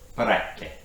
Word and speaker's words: peraccae: So it's actually peraccae. Peraccae. Okay, that was my best Italian accent that I've got. Peraccae. Okay, so it is a hard C and not S.